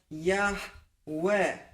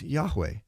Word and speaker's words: Yahweh: I was shocked when he said that the correct pronunciation was Yahweh. And again, he he points out that it's not with the the guttural Yah, but it's more of a lighter Yahweh.